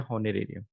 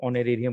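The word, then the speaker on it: honorarium: तो उसको कहा गया हॉनरेरियम। तो बेटे यहाँ पर एच साइलेंट हो जाता है, इसलिए इसको ऑनरेरियम कह देते हैं, एच साइलेंट है इस वर्ड में, इसलिए उसको ऑनरेरियम कह देते हैं।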